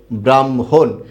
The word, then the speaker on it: ব্রাহ্মণ: এরকম আছে না কিন্তু উচ্চারণের সময় কি হবে আগে ম চলে আসবে আর পরে হ যাবে ব্রাম হ ওকার হ